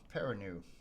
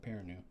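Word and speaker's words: Perrineau: Uh Peranu. Yeah, there you go. Peranu.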